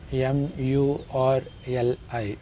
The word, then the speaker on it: Murli: It is spelled M-U-R-L-I, Murli.